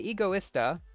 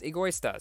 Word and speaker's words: Egoista: So I looked this up. Apparently, in Britain, they say Egoista, and in America, the proper pronunciation is Egoista. So that's why I get people telling me it's one way or it's another way.